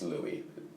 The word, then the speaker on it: Louis: pops and ambassador sach i'm pronouncing lewis wrong it's louie i read it like it's written it was born in